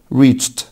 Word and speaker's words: reached: discovered, discovered, reach, reach, reached, reached. طبعا بعد التشه ساوند الاي دي طبعا نطقها تا. reached, shape, shape, shaped, نفس